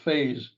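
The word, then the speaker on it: faze: subal Duel of wits the two words pronounced phase are rather odd because they're spelled so differently they have just two letters in common both vowels a in the middle and silent e at the end the verb phase is spelled exactly as it sounds f a z it means to bother or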